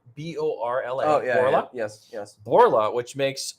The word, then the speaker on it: Borla: all right so I'm going to try to pronounce the name it's borla b-o-r-l-a yes yes borla which makes loud performance exhaust